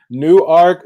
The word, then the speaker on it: Newark: new work new jersey there is a new art is that how they pronounce it in delaware newark newark delaware yes like delaware okay i